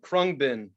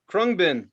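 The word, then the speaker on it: Khruangbin: Number 9, Krungbin, Texas Sun.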